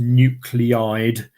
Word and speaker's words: nuclide: Sometimes you might come across this word, which is pronounced nuclide, and that just really means exactly the same.